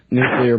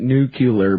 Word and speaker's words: nuclear: to kill a bunch of people with a nuclear bomb or do they still pronounce it nucular back then nuclear that's right yeah I read